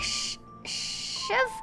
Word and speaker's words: Siobhan: It's pronounced something like shiv. Oh, do not pronounce the B. Shiv.